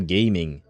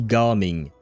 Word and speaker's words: Gaming: It's supposed to be Garming. Uh, at least if you listen to the voice actors uh, in English, but I think even in uh, Chinese, it's supposed to be pronounced ging, not gaming is well, that's a word, I suppose.